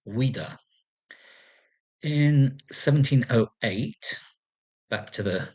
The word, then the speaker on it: Ouidah: Ajuda being the Portuguese way of pronouncing Wida.